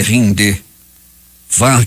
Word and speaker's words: Hyundai: automóveis do país asiático a pronúncia exata da Hyundai rind far que o governo da